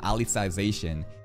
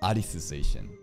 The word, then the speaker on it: Alicization: pronounce this goddamn season it's not alization it's adisz and the name AIS